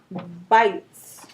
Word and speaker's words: bite: okay the word is bites right we have the E here okay the silent E makes the I say I that's its long name it makes it say I so the word is bite so let's try that